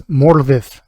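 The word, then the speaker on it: Morfydd: our european heritage types consistently mispronounce the name of the actress who's playing galadriel in rings of power it's morvith clark not she's welsh respect her heritage hey well matt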